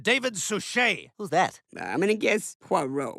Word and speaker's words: David Suchet: played by Bob Denver it's pronounced David suchet who's that I'm gonna